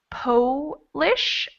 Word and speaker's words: Polish: mouth when i say polish my mouth becomes kind of a small o and when i say polish my mouth is much more open so that one's tricky